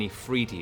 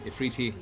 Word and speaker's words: efreeti: This is an Ifriti. It is a fire genie. What? Nefriti? Ifriti is the species is Ifriti, but in Ifrit, however you want to pronounce it, a flame genie, generally